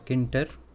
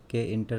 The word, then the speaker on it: Tkinter: have created it using kinter that is k enter some people spell it at t k enter some k enter like that and another library